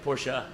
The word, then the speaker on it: Porsche: Yeah, Porsche.